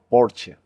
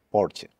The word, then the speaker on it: Porsche: Sería como Porsche. La E final apenas se escucha. Porsche.